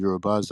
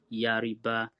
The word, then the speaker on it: Yoruba: So the people talk about the Hausa people, how they pronounce us as Yariba, and that means something. So first of all, it doesn't mean anything like I've said. But Yariba that they say, or Yaruba or Yarba, is just their own way of articulating, attempting to pronounce the word Yoruba.